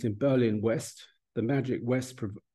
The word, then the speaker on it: West: Berlin West the magic West pronounced V like o ve in German spoken of with Awe